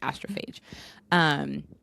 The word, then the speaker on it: Astrophage: In case you're reading it and not listening to it, that is how you pronounce that word, astrophage.